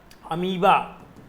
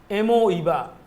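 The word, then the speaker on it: amoeba: बेटा यहां तक कि समझ लो अमीबा, एमोईबा, अमीबा, ये तरीका है ताकि स्पेलिंग गलत ना हो, एमोईबा जिसे अमीबा बोलते हो।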